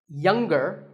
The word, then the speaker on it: younger: is silent now we say finger we say the G younger again with the G but singer no G and what would you